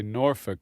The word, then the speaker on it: Norfolk: They kind of run it together and say Norfolk.